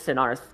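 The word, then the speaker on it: Sennarth: her full name wrong. It's Senarth.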